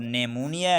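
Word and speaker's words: pneumonia: है, sorry P आता है, तो पी हमेशा साइलेंट रहता है। तो वजह कीजिएगा, यहाँ पर नेमोनिया है तो एन से पहले पी आया है,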